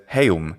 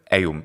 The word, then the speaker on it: eum: He says heum instead of eum.